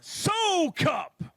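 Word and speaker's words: Soukup: let's do it again ladies and gentlemen John so cup see they knew it was wrong 1580 your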